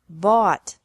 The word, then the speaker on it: bought: bring brought brought bu bought bought catch caught caught fight fought fought seek sought sought teach taught taught think thought thought remember that the g is silent in these verbs verbs with three different